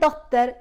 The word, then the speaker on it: dotter: And dotter, again, very similar to English, but with a Swedish touch.